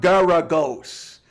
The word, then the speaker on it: Geragos: roll off your tongue mark garos mark one syllable g uh one uh two three syllables four syllables total mark gos Easy.